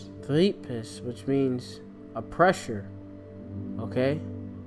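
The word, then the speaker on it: θλῖψις: The Greek word here for tribulation, you got, let me see, I'm gonna get the pronunciation. Strong's G 2347. Thlipsis. Thlipsis, which means a pressure, okay.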